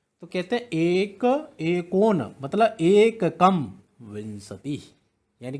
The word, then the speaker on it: विंशति: एकोनविंशति, विंशति, नेक्स्ट 20 है, 20 क्या कहते हैं? विंशति, विंशति। कई छात्र क्या करते हैं? विसंति बोल देते हैं इसको, विसंति गलत है, विंशति।